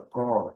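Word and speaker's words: corps: E para e para completar eh essa essa palavra core core, ela se se refere a um corpo,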